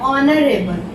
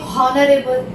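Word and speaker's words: honorable: अब देखिए, ये एच से स्टार्ट होता है, लेकिन हम बोलते हैं ऑनरेबल। ह से नहीं बोलते कि हॉनरेबल, नहीं, हम हॉनरेबल नहीं बोलेंगे, होता ही नहीं है ऐसा, एच साइलेंट होता है, ठीक है ना, ऑनरेबल बोलेंगे।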